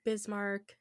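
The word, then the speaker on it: Bismarck: I wouldn't have know that that's pronounced bismar would have been like bism.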